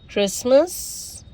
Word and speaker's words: Christmas: Again, castle, Christmas, fasten, listen, often, whistle, bustle, hasten, soften, rapo, gourmet, ballet. Okay, now silent U.